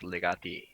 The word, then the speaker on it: legati: The plural is legati.